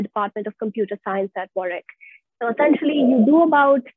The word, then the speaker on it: Warwick: five modules uh it's warwick yes uh the w is silent if that's what you're